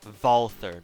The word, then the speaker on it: Walther: Or Walther, because I believe the Germans pronounce their W's as V's.